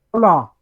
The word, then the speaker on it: hola: Hola. I'm going to say hola. Hola. Hola. Hola. You don't pronounce the H.